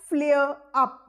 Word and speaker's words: flare up: Now what is meant by flare up? Flare up. R is silent or slightly produced.